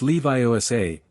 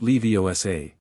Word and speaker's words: Leviosa: You're saying it wrong, Hermione said. It's Leviiosa, not Leiosa.